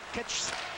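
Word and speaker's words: Kercs: Voilà Matti Sins, la remise à Ketch. C'est pas évident, hein, ça s'écrit K-E-R-C-S.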